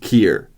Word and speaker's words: Keir: 10 facts about Karma first of all it's pronounced Kier because st's first name is pronounced uh like